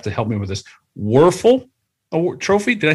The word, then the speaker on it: Wuerffel: In his senior year, Joel received the prestigious, and you may have to help me with this, Wuerffel Trophy. Did I say it right? Danny Wuerffel, yeah.